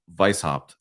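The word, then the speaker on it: Weishaupt: circles like so I think for for Adam Vice hopped for his sake I think I finally said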